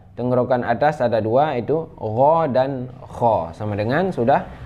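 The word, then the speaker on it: غ: Nah, cara membacanya ghairihu bagh. Tidak qalqalah, tidak bagh, bukan, itu salah ya. Yang benar ghairihu bagh. Ghan ghani na minal mughni maghiran ghani ghan. Nah, cara bacanya seperti itu.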